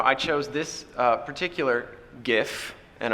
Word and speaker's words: GIF: chose this uh particular GIF and I'm pronouncing it with the hard G because uh uh the